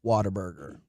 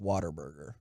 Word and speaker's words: Whataburger: mentioned that he missed Whataburger whoa wow which by the way did you see Whataburger put out a note that said it's pronounced Whataburger so like a water yes like I'm drinking water for everyone who gets